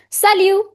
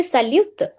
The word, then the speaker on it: salut: bon it's b nasal sound that's the correct pronunciation means hello or good morning sal I did not say salute sal last is silent sal or hi what is the Difference between salonjour.